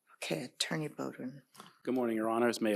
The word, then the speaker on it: Beaudoin: Attorney Fishman, I'm sorry, I got your name wrong. Okay, Attorney Bowden. Good morning, Your Honors. May it please the court, for the Commonwealth.